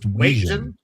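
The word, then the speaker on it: Wetjen: It's pronounced Watjen.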